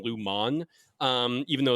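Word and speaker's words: Lumon: m o n though everyone kind of pronounces it Lumin rather than Luman um even though it's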